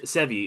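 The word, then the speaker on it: Sevii: It's described as saying this digital exclusive and contains the Sevi is how I always pronounce Sevi Sevi.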